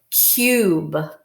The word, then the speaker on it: cube: the u sound look if we were to cover this up it would be cub this would be a closed syllable type because there's a consonant blocking the vowel but the magic e or silent e syllable makes it a long vowel sound this is cube so the u sound